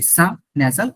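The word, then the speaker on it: six: এটা কি হবো এক্সাক্টলি সাজাল আরেকটা কিউ দিয়ে দিলাম হয়ে গেল সাচি আ সটলি ফাইন সিক্স কলড সিজ সিজ চিজের মতন একটা সিজ নট সিক্স ইটস সিজ R seven is called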